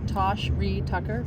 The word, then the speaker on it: Tosh Reed Tucker: Tosh Reed Tucker. Can you spell that?